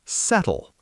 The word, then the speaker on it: subtle: Subtle. S U B T L E pronounced settle.